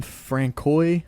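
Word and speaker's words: François: Is it Francois? Yeah. Francois? Well, it's not Francis because it's got the O in there, so I didn't know if it's Francois. Francois. Yeah. I would say Francois.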